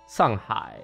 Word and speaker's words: Shanghai: I'm going to use the Chinese pronunciation. Shandong, Guangdong, Shanghai, Zhejiang, Jiangsu, Henan, Fujian, Sichuan, Liaoning, Hunan.